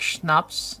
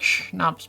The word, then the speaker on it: schnapps: Most Americans say like schnapps, snaps. Ah, I see. Snaps. Yeah, I would say it's like schnapps because it's like the sh sounds.